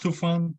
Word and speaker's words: Tufan: Did I pronounce your name right? I'll listen to Google. Am I echoing as well? No, not to me. Okay. Yes, it's pronounced Tufan.